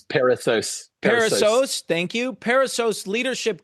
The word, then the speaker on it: Perissos: Paul pronounced that. I knew I was going to botch that word. It's Perissos.